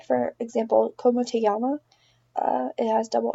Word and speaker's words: llama: In Spanish, the double L's is pronounced Y. For example, como te llama? It has double L, but it's pronounced llama.